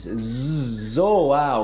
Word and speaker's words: zoar: a gente vai começar com zohar em português zoar Ok você pode zoar com alguém de irritar